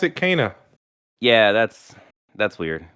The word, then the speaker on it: Kena: the recently released kenna brucha spirits and it's pronounced kenna and not kina and not khanna so uh there you go in the game for some reason they pronounce it kana yeah that's that's weird like that's weird we'll